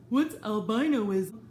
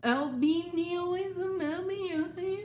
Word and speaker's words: albinism: What's albinoism? What's albinism?